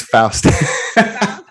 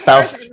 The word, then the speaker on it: Faust: Well, it's Faust. It's Faust.